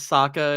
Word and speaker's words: Sokka: literally says to her, "My name is Sokka. It's pronounced with an aka," and I'm like, "That's from season 2."